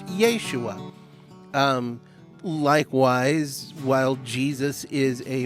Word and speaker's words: Yeshua: over translated name that in his day would have been pronounced yeshua likewise while jesus is